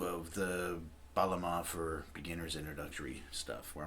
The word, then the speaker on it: Bağlama: It's, it looks like it's called Baglama, but it's got a funky G in there, this Turkish G. I don't even know how to pronounce it right. Most, I think, people cannot pronounce it if they don't speak Turkish or have difficulty pronouncing it. So you can just forget about that G and just say Baglama. That's the closest you'll get to it.